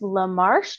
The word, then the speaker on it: Lamarche: have a guest uh lamarche did I say that right yep you said it right awesome from Hadley